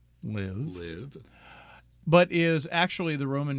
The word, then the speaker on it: LIV: starting with its name which when pronounced rhymes with give live but is actually the